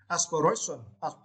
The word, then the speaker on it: aspiration: and for this words you need to St the third syllable aspiration aspar right okay right